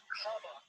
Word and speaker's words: Kamala: and your fellow um her name is pronounced comma like the punctuation mark look combo okay seriously